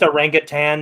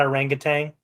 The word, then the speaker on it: orangutan: to play football exactly it's pronounced a rangan not a rangang how about I don't